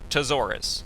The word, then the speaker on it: Tzoris: Or Tzoris, since it's spelled T-Z-O-R-I-S.